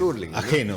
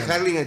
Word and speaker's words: Hurlingham: sigue diciendo alguien hingham Ah mir suena tan raro porque es urlingam la pronunciación pod el que no vive ening el que te dice harling te dice Wild claro